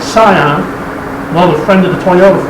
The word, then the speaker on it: Scion: year's project 2006 scion yes that's how you say it scion another friend of the